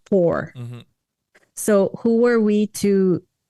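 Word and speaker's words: Poopor: don't remember exactly but his name was for p-o-o-p-o-r pronounced four so who were we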